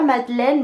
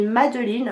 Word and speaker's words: Madeline: c'est l'histoire de Madeline alors pas Madeleine mais Madeline on insiste bien là-dessus de surnom euh dit